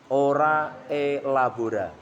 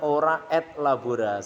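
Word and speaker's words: ora et labora: apa berdoa sambil bekerja ora e Labora bahasa gitu bahasa Prancis kalau orang bahas inris kalau orang bacanya or Labora Salah bacanya Yang benar ora e Ora itu berdoa E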